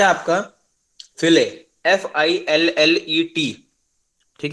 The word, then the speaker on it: fillet: Next है आपका फिले, FILLET, ठीक है। अब देखो टर्म इसकी स्पेलिंग होती है FILLET, लेकिन कोई इसको फिलेट नहीं बोलेगा, इसको बोला जाता है क्या?